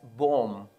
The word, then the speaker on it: bomb: In the other example, such as bomb, We say bomb. It's not bomb, B is silent, bomb.